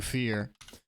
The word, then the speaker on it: Euphear: And then there's a dunce cap and it's pronounced fear.